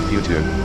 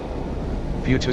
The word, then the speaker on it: Fuchu: Fuchu spells F-U-C-H-U, but David can't pronounce correctly, so it has to be spelled F-U-T-U, for better pronunciation by David, if not correct.